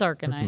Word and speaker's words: Arcanine: Arcanine? Yeah. Or I don't know how everyone else pronounced it. I always pronounce Arcanine. it Arcanine. It's Arcanine, Arcanine.